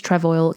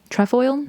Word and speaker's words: Trefoil: And so the Adidas Trevo came into being.